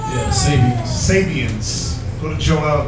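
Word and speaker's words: Sabeans: Yeah, Sabians.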